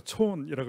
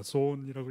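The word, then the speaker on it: Zorn: 많은 사람들이 여기에 대해서 연구를 시작을 했는데 여러분들이 집합론의 그 유명한 소운슬레마 이름을 독일 사람이니까 촌이라고 읽어야 됩니다. 소운이라고 읽어도 되긴 하겠지만 막스 촌이라는 학자가 그게 된다라는 것을 1947년에 증명을 해서 Bulletin of American Mathematical Society라는 저널에 논문을 냅니다.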